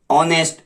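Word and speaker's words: honest: ऑनेस्ट, एन ऑनेस्ट person, इसमें एच आपका silent है, एन ऑनेस्ट, ऑनेस्ट पर्सन।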